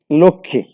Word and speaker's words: লক্ষ্মী: করছি, মফলার ক্ষেত্রে আমরা যুক্ত ব্যঞ্জনে মফলার উচ্চারণ হয় না। যেমন লক্ষ্মী, যক্ষা, সূক্ষ্ম।